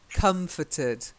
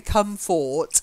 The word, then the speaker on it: comforted: a bit like constable it's comforted the only time you say come forward is when you're singing the hymn tidings of comfort and joy understate otherwise don't bother comforted confident Batsy it's good